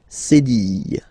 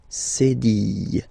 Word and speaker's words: cédille: Okay, and that's what we call cédille, cédille. Okay, cédille, cédille.